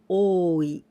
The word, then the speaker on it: 多い: We pronounce ta or also oi.